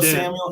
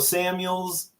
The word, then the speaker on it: Samuel: one MAF he called he called Debo Samuel he said Debo Samuels he said he said